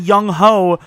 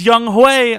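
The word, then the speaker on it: Younghoe: can't make rebuilds anymore i said young ho which is how it looks but it's young hue oh no relax okay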